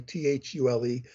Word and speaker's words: Thule: were two other secret societies the Thule Society t-h-u-l-e sometimes people mispronounce It soul but it's called Thule in German and the